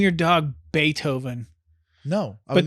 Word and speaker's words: Beethoven: would name your dog Beethoven No but then mispronounce it like be oven oh God what do